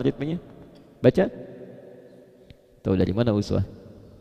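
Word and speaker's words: إسوة: Tahu dari mana uswah? Kalau Anda main ke sebagian negara di Timur Tengah, mereka bacanya iswah.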